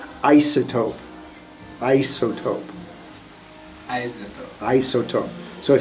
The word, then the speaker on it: isotope: Now, can I just make a comment on pronunciation? Isotope.